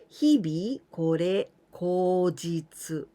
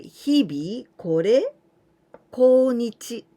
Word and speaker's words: 日日是好日: But nowadays we don't pronounce 日日これこ日, but we usually pronounce like this. 日々これ口実. But actually there are 2 other ways. Not so often, but we can say 日々これこ日. So the last part with this way of reading. Or 日々これ良き日. Good day, 良き日. But anyway, usually this pronunciation is the most common.